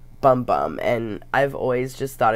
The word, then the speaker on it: Bum Bum: the Brazil bumbum cream it's actually pronounced boom-boom according to them but it's spelled bum bum and I've always just